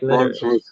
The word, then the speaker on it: Litteris: Litteris. Rhymes with clitoris.